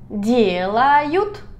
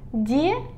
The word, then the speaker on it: делают: Делают. Hacen. Die. Suave aquí. Die, die, die. Делают.